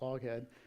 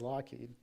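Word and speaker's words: Loughead: little bit different uh back then it was l u g h h e a d sounds like lad they eventually changed the spelling because phonetically that says loed so the founders of our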